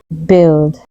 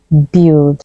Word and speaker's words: build: us it's pronounced yacht while in British it's pronounced yach yacht yach yachs next up we have this word build you hear a lot of people say build but it's actually pronounced build the you a